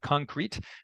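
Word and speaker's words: Concreit: platform there's one called concrete and it's spelled c-o-n-c-r-e-i-t like reach so it's clever in quotes but they also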